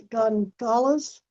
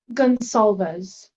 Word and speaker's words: Gonsalves: Like Goncalves, but you're pronouncing it Gonzalez? Gonsalves. Gonsalves. Okay.